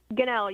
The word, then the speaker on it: Gunnell: Mary's and Notre Dame student Gunnell. I hope I'm pronouncing your last name right. Is that correct? Ganell, yes, you got it right, sir.